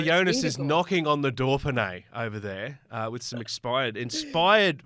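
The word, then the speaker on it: Dauphiné: Dauphine. Well done. How's that? Not bad. There's no R in Dauphine, but I'll take it, Joel.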